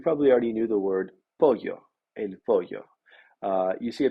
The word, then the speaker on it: pollo: However, I hope that after taking this class, you will continue to pronounce this word correctly as pollo and not polo.